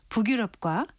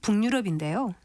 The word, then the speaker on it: 북유럽: 그렇다면 이것을 읽을 때 글자 그대로 발음하는 북유럽과 글자 모양과는 좀 다른 북유럽 중에서 어떤 것이 맞는 발음일까요? 일반적으로 많이들을 수 있는 것은 북유럽인데요. 이것은 올바른 발음이 아닙니다. 우리말 표준 발음법에서는 한자어 합성어 및 접두 파생어에서 앞단어나 접두사가 자음으로 끝나고 뒤 단어의 처듬절이이 야여요 유인 경우에 니은을 참가해서 발음한다는 규정이 있습니다. 그런데 북유럽의 경우는 유럽이 외래어기 때문에 니은을 첨가해 발음한다는 규정에 해당하지 않습니다.